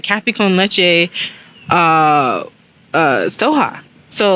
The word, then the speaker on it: soja: was like soha that's no i was saying soja so it's spelled s-o-j-a so i was like soja soja right and but it's pronounced soha it's it's really i think pronounced but you